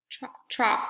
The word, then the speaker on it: trough: is I don't know the trough that still doesn't sound right trough there it is the hog I say hog trough to remember how to say the word the trough is actually